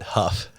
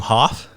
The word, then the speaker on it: Hoff: brother I'm good first you mispronounced your own last name you said Huff oh oh what what what how do you pronounce it isn't isn't your last name Hoff yeah you're right he